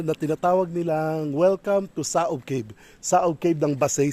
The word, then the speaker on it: Saob: Tapos yung mga Kastila, pagka nagtatawag, may bibisita, sinasabi nila saob, saob. Saob. Hindi kasi ma-pronounce ang K. Dapat sakob. Sakob. So wari-wari is sakob. Sakob. Kaya saob na lang.